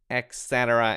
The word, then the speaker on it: et cetera: exactly it's it's pronounced it's often pronounced with an x so people pronounce it